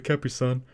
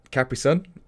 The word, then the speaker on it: Capri Sun: So you Like say capris. Capris. E. It's spelled I. It's CAPRI.